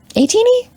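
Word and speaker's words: ATEEZ: I guess I'm an a teeny a teeny yeah that's how you pronounce it for a second I'm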